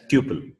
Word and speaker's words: tuple: Tuple and uh uh the Asians will speak as tle tle but uh Americans they speak it as Tuple so tle or Tuple that is left to you okay you can just pronounce however you want right uh yeah uh